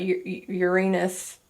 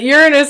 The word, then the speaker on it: Uranus: They could be, you're quite literally scared of that Uranus. Oh God, I said it wrong. That Uranus energy.